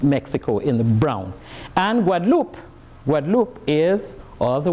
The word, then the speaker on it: Guadeloupe: makes all the difference what a lupe is Spanish and it stands for Isla Guadalupe which is not the same as what loop which is a languid loop which is French so the pronunciation as